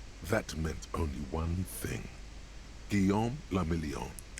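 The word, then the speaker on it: Guillaume Le Million: meant only one thing guillaume lamillion yes if it doesn't rhyme you're not pronouncing it right out of the dazzling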